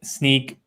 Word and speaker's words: Snyk: to make real quick the way I remember how to pronounce sneak I figure hey if you're sneaking around they're gonna catch you all right so that's that's how I think about it anyway that's a sneaky